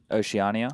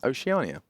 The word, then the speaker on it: Oceania: Oceania. Oceania.